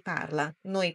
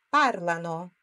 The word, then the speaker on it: parlano: parli Lui parla lei parla noi parliamo parlate só aqui muda aaba tônica ou seja aquela sílaba forte na pronncia né no par Loro parlano não parlano parlano ok parlo tu parli